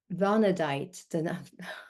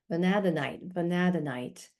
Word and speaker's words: Vanadinite: Vanadite. I always have trouble with these crystal names. I actually looked up the pronunciation. Vanadinite.